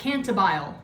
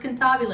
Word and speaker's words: cantabile: is the cantabile section it looks like canterbile it's pronounced cantabile it's italian okay it basically means